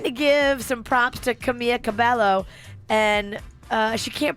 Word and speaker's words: Camila Cabello: She's trying to give some props to Camila Cabello, and she can't pronounce her name. Camila Cabello. Camille Cabello is nominated for Y'all know I can't read that good, right?